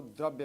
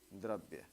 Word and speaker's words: द्रव्य: पदार्थ पदार्थ या इसको द्रव्य बोलते हैं द्रव नहीं द्रव्य द्रव्य देखिए पदार्थ या द्रव्य